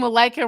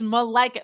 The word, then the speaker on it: Malika: I was saying Malika wrong for so long. It wasn't until it's Malika.